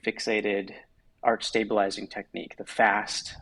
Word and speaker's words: FAST: arch stabilizing technique, the FAST. I make the same mistake of pronouncing it PFAST. Yeah, I said PFAS all this time. It's fast. Yeah, it's fast.